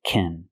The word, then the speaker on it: can: But if it includes a verb, pronounce it kin, because it's not a stressed word.